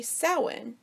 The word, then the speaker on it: Samhain: believed to Hill from ancient Celtic festivals particularly soin but that is also annoyingly pronounced Samhain for those who aren't sure soin